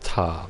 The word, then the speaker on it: Ptah: Temple of Ptah. But it's just pronounced Ta because the P is silent.